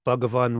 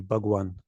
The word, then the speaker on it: bhagavan: your cheeks are honestly the difference between a V and a w is just this how much air fills up your cheeks so the different shapes of different human mouths will make the difference in that sound that's why sometimes people write bhagavan with a W bug one bhagavad-gita because the V and A W is basically the same thing it's this particular sound